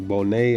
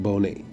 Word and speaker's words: Bonet: a guy named Bonet I called him bone so excuse me brother for deting your last name but yeah banet he's from Ecuador so they pronounce it Bonet in uh in this